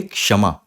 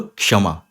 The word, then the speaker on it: क्षमा: जुड़ के यह बनता है तो इसको आप क्षमा नहीं बोल सकते इसको आप बोलोगे क्षमा थोड़ा सा का है थोड़ा सा का है बोलने में और ज्यादा यह श है तो क्षमा क्षमा ऐसे ही जो एक दूसरा वर्ड है